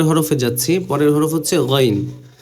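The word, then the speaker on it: غين: আওয়াজ বের করি না ঠিক ওরকম অর্থাৎ অনেকে গইন বলেন গইন গইন বললে কিন্তু বাংলা অক্ষরের গ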